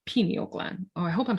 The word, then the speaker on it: pineal: they don't really know much about this pineal gland, what it was.